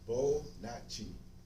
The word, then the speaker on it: Bonotchi: It's pronounced Bonotchi. Bonotchi.